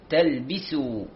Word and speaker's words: تلبسوا: كلمة تلبسوا، الباء ننتبه أن نكسرها، نأتي بها مكسورة، ولا تلبي بي تلبسوا.